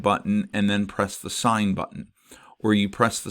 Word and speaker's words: sin: It says sin, but it's pronounced sign.